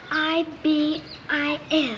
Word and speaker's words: ibis: how to say it it's i b i s ibus yes Ibis tell me something hiy